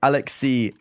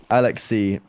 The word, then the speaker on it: Alexi: Like it's like for Finnish people, it'd be like you say it as you see it.